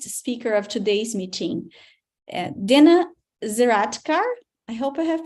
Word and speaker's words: Zeraatkar: Now, let me present you our guest speaker of today's meeting, Dena Zeraatkar. I hope I have pronounced your last name correctly, Dena.